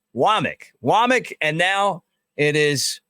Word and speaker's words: Wommack: that came from South Alabama it looks like wac but it's pronounced wck wck and now it is Maurice linquist they